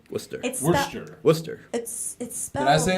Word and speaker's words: Worcester: am I saying it right Worcester for sure Worcester right yeah so you gotta move to Boston